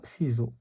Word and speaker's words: ciseau: ك ك ك ك sauf le mot ciseau, on prononce la lettre C, C, parce qu'on a I devant C. Donc, on a ciseau.